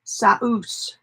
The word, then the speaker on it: sauce: almost died out and it looks like sauce but it's pronounced Seuss it's Russian and it is similar